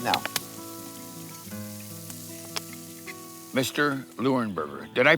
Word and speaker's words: Leuenberger: Lurenberger. Did I pronounce that right? Yes, you did, Darl. You know right? It's Lurenburgger, right?